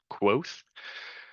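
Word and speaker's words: Kvothe: It's spelled quote off, but it's said quoth.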